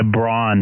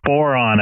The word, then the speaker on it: Boron: Boron, I believe. Sorry, I said it wrong.